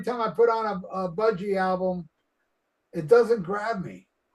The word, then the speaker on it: Budgie: And who did Budgie did Crash Course in Brain Surgery, right? That's how you say it. I always want to say Buggy.